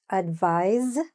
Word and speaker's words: advise: So this one is spelled with an S and it's pronounced advise. Even though it's with an S, it sounds like a Z or a zed sound.